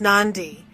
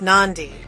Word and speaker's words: Nadi: Nadi, pronounced Nandi.